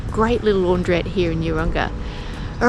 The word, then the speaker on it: Urunga: I keep saying Uranga, it's Urunga. I'm not even sure if that's how you pronounce it, but apologies if I've got that wrong.